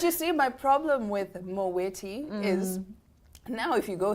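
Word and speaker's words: Moët: It's Moweti and Shandon.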